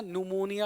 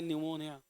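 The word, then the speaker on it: pneumonia: हैं बच्चों को बीमारी पकड़ लेता है ना न्यूमोनिया हो गया सुई लगाओ है ना सर्दी जुकाम वो होता है निमोनिया चलिए अगला सवाल फटाफट लिखिए आंसर बता दीजिए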